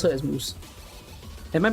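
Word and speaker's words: Mousse: do i put it it's not mouse you don't pronounce it as mouse there's a u between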